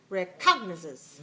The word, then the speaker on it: recognizes: which one is it which one is correct recognize it stress the stress the first syllable all right so let's